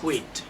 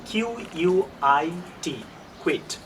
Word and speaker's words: quit: না থাকতে চান, আপনি বলতে পারেন I will কুইট, I will কুইট। Stop, that means to stop something, two dismiss something. So বানানটা ভালো করে মনে রাখবেন, QUIT, কুইট।